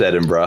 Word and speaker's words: Edinburgh: Anyway, it's pronounced Edinburgh.